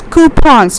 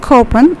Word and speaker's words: coupons: is known as coupons it's coupons it's not copen it's coupons we call this ass